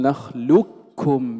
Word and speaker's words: نخلقكم: الإدغام الكامل، أي ننطق بكاف مشددة. وكل هذا قد مر معنا أن نقول نخلكم لكم فلا يبقى أثر للقاف، هذا هو المختار عند جمهور القراء.